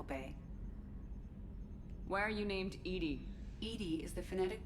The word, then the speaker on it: EDI: behind the medical Bay why are you named Ed Ed is the phonetic pronunciation of Eed that is an acronym for